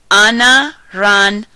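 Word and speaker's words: anaranjado: to say in Spanish anaan hard O So Anna ran hard o but take out the r and make sure you're pronouncing your vowels as you should pronounce them in Spanish now the fruit to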